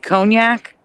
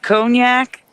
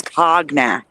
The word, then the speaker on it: cognac: Only cognac, which many pron mispronounce hognack because of how it's spelled.